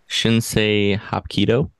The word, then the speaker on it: Shinsei Hapkido: He's got a passion for martial arts and is a teacher of Shinsei Hapkido. Did I pronounce that correctly?